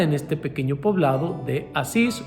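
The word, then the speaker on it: Assisi: este pequeño poblado de asís o en italia no se dice a sí sí por allá en el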